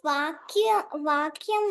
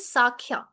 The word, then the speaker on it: Sakhya: And the next one is Vakya. Vakya Rasa means nothing but a friend to the god, right? Okay. Yes, that's friend, but it's pronounced as Sakhya. Okay. Sakhya. Sakhya Rasa, that's correct.